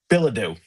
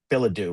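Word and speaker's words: Bilodeau: Billadou. That's how I Billadou. say it. Billadou, right? Because it ends in a DEAU, like almost like a French word, I French.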